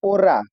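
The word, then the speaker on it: hora: एच इसमें दोनों word में साइलेंट है। ओला और ओरा दोनों में साइलेंट है। हम लोग ओ से शुरू कर रहे हैं। एच को किसी भी वर्ड में नहीं बोलेंगे।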